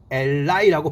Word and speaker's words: ally: 다가가서 묶다, 묶이다 의미가 동사로 편들다, 지지하다 의미가 되었고, 명사일 때는 ally라고 발음해서 다가가서 묶이는 것이 동맹국, 협력자 의미가 되었습니다.